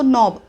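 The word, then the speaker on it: knob: नॉब बद्दल महत्त्वाची गोष्ट के एन ओ डब्ल्यू असं स्पेलिंग असलं तरी आपण उच्चार करतोय एन पासून म्हणजे न पासून नॉब म्हणतोय के चा उच्चार होत नाही याच्यातला हा के तो सायलेंट आहे केस सायलेंट आहे मग टर्न ऑन द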